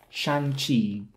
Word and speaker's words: Shang-Chi: on the second syllable so it's shan chi not shanchi like what you do with dim sum not dim sum and hong kong not hong kong where i am from also you would not